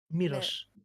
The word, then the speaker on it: Miłosz: It's Miłosz. The Miłosz, first okay. L is a non-rolled R.